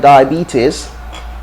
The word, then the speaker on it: diabetes: we have the word diabetes diabetes not diabetes dire beaters it's in the b that is stress so b is where the b is where